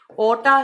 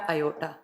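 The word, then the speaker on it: aorta: ओटा या अयोटा, इसको प्रोनाउंस कर सकते हैं आप, ओटा या अयोटा।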